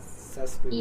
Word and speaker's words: sesquipedalian: It's like a Sesquipedalian. expression. S-E-S. Seskibidelian. Oh, no. Q-U-I. क्यों? अच्छा, इसकी spelling भी मुश्किल है. Sesquipedalian. Sesquipedalian. It's qui. The pronunciation is... Sesquipedalian. Sesquipedalian. Yeah, that's right.